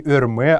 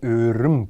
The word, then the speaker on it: рым: Не «рме», а именно «рым» правильное произношение этого слова.